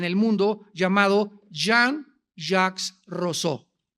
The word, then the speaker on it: Rousseau: mundo llamado Jean Ja rosau rosau o rousseau como lo quieran pronunciar en francés Jean Ja rousseau este hombre nació en